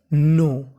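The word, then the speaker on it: know: मैं आपको बता दूं अगर कभी एन से पहले हमारा के लिखा हो तो हमें के का उच्चारण नहीं करना होता के हमारा साइलेंट रहता है तो मीनिंग बन गी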